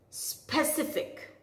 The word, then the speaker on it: specific: Many people call it as specific, but the correct way to say this word is specific.